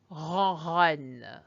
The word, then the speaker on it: ronronne: Le chat ronronne. Once more. Le chat ronronne. And if you need to stick a pen to the back of your mouth, you probably sound like le chat ronronne.